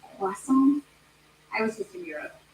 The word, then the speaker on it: croissant: It's actually pronounced croissant.